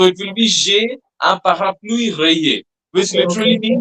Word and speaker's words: parapluie: And that umbrella is very difficult to pronounce. It will be parapluie, Parapluie.